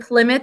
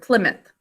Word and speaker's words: Plymouth: And the second syllable, what sounds do you hear? Ow, ow. The ow sound comes from ow, o, oo, since it's not at the end of a word.